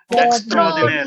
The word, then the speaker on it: extraordinaire: Extraordinary. Extraordinary. Extraordinary. Extraordinary. Extraordinary. No, wrong. Extraordinaire. Extraordinaire. Extraordinaire. Extraordinaire. Again, repeat. Extraordinary. Extraordinary. Extraordinary. Extraordinary. Extraordinary. Extraordinary. Say extraordinaire. Say extraordinary. Say extraordinaire.